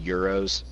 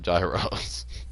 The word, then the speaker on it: gyro: You mean euros? Have It's I? pronounced euro. Why have I called them Is it gyros? is it spelled Gyro? Yeah. It's called euro. The G is silent.